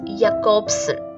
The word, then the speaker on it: Jakobson: linguist and literary theorist the pronunciation is jacobsen it is a tripartite